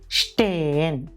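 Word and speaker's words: Stein: letter കോമ്പിനേഷൻറെ ഉച്ചാരണങ്ങൾ പഠിക്കാൻ എസ്സും ടേയും വരുമ്പോൾ അതിൻറെ ഉച്ചാരണം ഷ നമ്മൾ കഷ്ടം എന്ന് പറയുന്ന ഷയാണ് നമ്മൾ ഉച്ചരിക്കേണ്ടത് ഉദാഹരണം സ്റ്റേയൻ സ്റ്റേയൻ അടുത്തത് എസ്സും പേയും വരുമ്പോൾ അതിൻറെ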